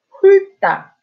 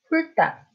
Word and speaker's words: 훑다: So in this case, you pronounce lyr. So how would you say it? 훑다, 훑다.